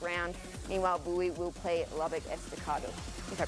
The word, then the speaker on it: Lubbock Estacado: Meanwhile, Bowie will play Lubbock Estacado, if I pronounced that correctly. There you go. You got it. Lubbock Estacado.